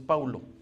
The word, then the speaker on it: Paulo: Entonces le vengo diciendo que la expresión correcta no es Pablo, sino es Paulo. Nada más que lo colocaron en las Biblias porque el español así lo pronuncia.